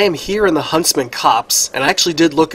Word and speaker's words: Copse: here in the huntsman cops and i actually did look it up it's pronounced cops like you know policemen like hey here comes